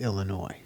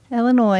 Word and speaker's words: Illinois: The S is silent. It's Illinois. Oh, for God's That's sake. my home state. Illinois.